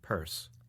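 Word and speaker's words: Pierce: She had one president, pronounce him Purse, and make the most of it, for better or worse.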